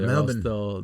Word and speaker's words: Melbourne: I was in Melbourne, and that's the way you gotta pronounce it. Melbourne.